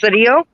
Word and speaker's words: Sidio: son jesse sidio at it's pronounced sadio we were killed by